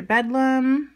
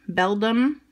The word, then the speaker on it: Beldum: looks pretty happy another bedlam beldum that's how you say it beldam fire-type energy a